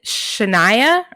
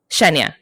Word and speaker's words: Shenya: Is it Saria and Shania or Shenya? Shenya. Okay. All the widow names have that "ya" on the end.